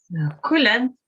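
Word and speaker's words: cuileann: There is a very similar word, only where U is long, and that means a totally different thing. So the short U, it means holly.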